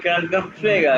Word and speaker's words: Krankenpfleger: आवाज कम आ रही है भाई, क्रंकन फ्लेगा कैसे? हाँ भाई बोल रहा ना। Krankenpfleger.